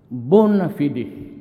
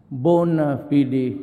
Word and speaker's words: bona fide: repression of media the bonafide media bona fidi media sometimes they pronounce that bona fide but whatever the thing